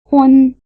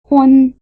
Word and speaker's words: hūn: One, hun. Listen again and notice that they rhyme. One, hun.